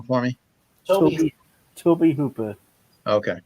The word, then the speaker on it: Tobe Hooper: So Gunnar Hansen was actually born in 1947, and Tobe, pronounce his name for me. Toby Hooper. Okay, Tobe Hooper.